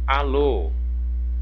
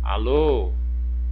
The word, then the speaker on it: alô: Então, olha, qual que é a sílaba mais forte? Alô. Olha, o lo. Ah, é a última sílaba. Ok, então ela é o que? Uma oxítona. Ah, terminou em o. Aí eu vou verificar, é som aberto ou som fechado? Som aberto, acento agudo.